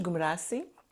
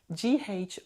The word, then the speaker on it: Ghoumrassi: My name is Ghoumrassi. And how do you spell that? Yeah. So, and then. That's a Portuguese name. And then Ghoumrassi, it's a North African name. Ghoumrassi. Ghoumrassi.